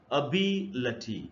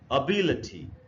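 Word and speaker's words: ability: आप ट्रांसक्रिप्शन को देखें तो इसका जो जो करेक्ट प्रशन व है अभिल ऐसे पढ़ना है अभिल तो इसमें कहां पर स्ट्रेस है इसमें ये जो है बी देखिए वही नीचे य बात लिखी ई है कि द स्ट्रेस इ ऑन बी in this word इस इस वर्ड को पढ़ना चाहिए अबील एबिलिटी एबिलिटी बिल्कुल नहीं पढ़ेंगे एकदम गलत उच्चारण अब हम इसमें आगे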